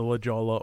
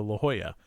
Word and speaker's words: La Jolla: names on them, so it's the Lajala or the La Jolla. One of those two. I was actually on that boat for a time in the 90s, early 90s, I guess. Okay. We pronounced it La Jolla, but it could be that we were wrong, and it is actually the Lajala. I think La Jolla is a boat and Lajala is a ship.